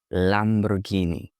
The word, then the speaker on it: Lamborghini: But that's not how Italians pronounce it. They say Lamborghini. Lamborghini. You have to read the R and go with the Italian flu.